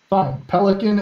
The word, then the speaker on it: Poliquin: Circuit Court in 1975 guy whose name pronounced Poliquin pelican and other plaintiffs made